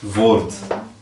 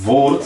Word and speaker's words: woord: Woord. E woord, você vê aqui, apresenta um O. Então preste atenção na pronúncia. Woord, você vê que é um pouquinho mais curto.